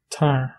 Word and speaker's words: tar: Troisième exemple, le verbe venir, approcher, se prononce tar. Tar. Vous pouvez voir aussi que le A semble très proche au français.